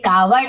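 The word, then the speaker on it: coward: कार्ड का मतलब होता है, यहाँ पे लिखा है कार्ड, इसे कावर्ड ऐसे ही पढ़ेंगे, WF साइलेंट होता है, कार्ड, कार्ड रैट।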